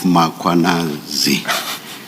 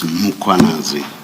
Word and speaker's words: Mkhwanazi: You repeatedly talk of muanazi. There is no a right at the beginning of uh that first syllable. The a is after the h. So it's muanazi, not muanazi.